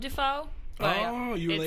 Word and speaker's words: Dufault: So it's pronounced like William Defo spelled I tell people that except for it's